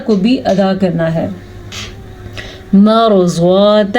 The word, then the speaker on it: مرضات: بھی ادا کرنا ہے۔ مرضات ازواجک، रॉ को पुर पढ़ना है क्योंकि रॉ साकिन से पहले हर्फ पे ज़बर है।